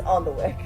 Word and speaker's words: Alnwick: we were just in what I have written down is on the wick a-l-n-w-i-c-k Alnwick ah that makes